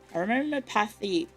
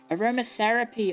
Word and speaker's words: aromatherapy: Aro aromopathy.